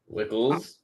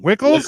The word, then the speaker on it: Wckls: with that as his last name so it wickles it is it's fine it works there's no